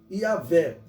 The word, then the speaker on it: Yahvé: está o tetagrama sagrado, que a melhor pronúncia, a pronúncia mais aceitável é Yahvé.